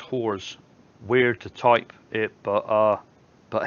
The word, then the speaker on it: Halls: Stuart Halls, not nitpicking, but Halls is pronounced whores. Weird to type it, but hey, I'm not going to call you a whore. But no, thanks, because I would have just kept calling you Halls.